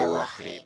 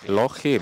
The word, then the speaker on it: Elohim: Yahweh Lohim, ya, melafalkannya dengan Lohim, Lohim, ya, bukan Elohenu tapi Lohim, bukan juga Elohim. Dia melafalkannya dengan Lohim, ya. Ya, mungkin niatnya itu dia ingin melafalkan untuk bilang Elohim, ya. Tapi karena mungkin dia pengen bergaya dan mungkin dia pengen kelihatan keren, dia malah nyebutnya dengan kata Lohim, ya, Lohim, bukan Elohim, tapi Elohim, ya. Nah, L-nya ini malah diilangin.